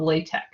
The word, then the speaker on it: LaTeX: math programming language called latex um it's spelled like latex but the x is pronounced like a k because it's the greek symbol for x which is a k sound um so it's just